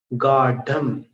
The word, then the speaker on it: गाढ़ं: दूसरी पंक्ति में गाढ़ं गाढ़म नहीं बोलना, गाढ़म, ढक्कन वाला ढ बोलना है। दृढ़ वाला नहीं बोलना, जो नीचे बिंदी होती है वो उच्चारण नहीं करना है। गाढ़म।